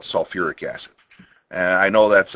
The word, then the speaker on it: sulfuric: So they decided, no, for sulfur compounds, we're going to keep 2 syllables. And we're going to call it sulfuric acid.